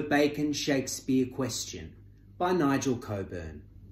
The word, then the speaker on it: Cockburn: Shakespeare questioned by Nigel Coburn we prefer to pronounce the name as it is spelled Cockburn because it metaphorically conjures